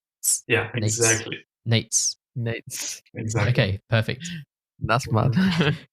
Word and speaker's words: Nejc: They basically said it's pronounced. Yeah. Hey, that's pretty close. Really? Yeah. So if you just say like a t's at the end, t's, Nejc. Yeah, exactly. Nejc.